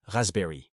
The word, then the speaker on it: raspberry: La framboise c'est raspberry. Notez bien que le P ne se prononce pas.